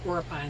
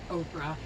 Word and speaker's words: Orpah: She and her sister-in-law, Orpah, and it is pronounced Orpah, not Oprah, they were married to Naomi's sons.